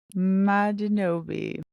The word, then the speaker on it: Madinobi: And so that name is pronounced Ma D No B. Madinobi.